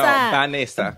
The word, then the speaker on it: Vanessa: No, Vanessa. Vanessa. You gotta say it like Spanish. Say it, Vanessa.